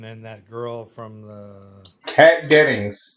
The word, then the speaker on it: Kat Dennings: Kat Dennings.